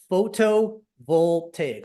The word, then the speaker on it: photovoltaic: Photovoltaic. So it's 5 syllables, like photovoltaic.